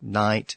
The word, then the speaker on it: knight: when that sound disappeared it left English with quite a few words with a silent k at the beginning including night so that explains the